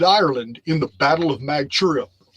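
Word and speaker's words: Mag Tuired: Now, in May, the Tuatha Danann invaded Ireland in the Battle of Magtura. It's actually pronounced Moitura, I believe.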